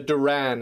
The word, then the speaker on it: The Duran: meet and for the listeners it's the the Duran is that how you pronounce it yes correct how did the two